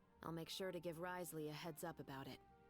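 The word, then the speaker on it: Wriothesley: Fortress of meped I'll make sure to give Risley a heads up about it oh oh that's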